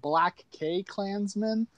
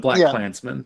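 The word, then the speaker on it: BlacKkKlansman: Because I've been saying it like Black K Klansman. No, it's just Black Klansman. It's a stylized spelling, but it's Black Klansman.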